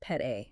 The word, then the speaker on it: Pete: So, you have the tech capital on one side and then you have the Pete, pronounced pet A, right?